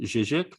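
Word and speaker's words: Žižek: And it's the approach of a particular contemporary figure whose name is Slavoj Zizek. That's how you pronounce it, Zizek. People often have a hard time pronouncing it in the Anglophone world.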